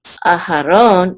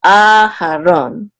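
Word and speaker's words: אהרן: here at NASA so the accent is on the second syllable we have a secondary accent here so it's not a her own its aha Ron okay ah how long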